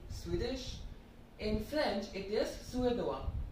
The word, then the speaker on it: Suédois: In French, it is Suédois. Suédois.